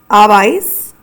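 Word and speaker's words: habéis: Our votros form is pronounced as abis spelled h a b e with an accent I s abise and then our aas form is pronounced as an spelled h a n.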